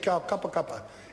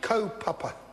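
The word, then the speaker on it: kaupapa: pronounced renounce rally said cuppa cuppa it is actually cope upper co as in tow power as in Paw Paw Paw Paw Paw Paw not go cup of copper cope upper I want to thank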